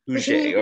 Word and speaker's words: Huger: And we mentioned Nell, and then there's Virginia, how do you pronounce Huger. That? Huger.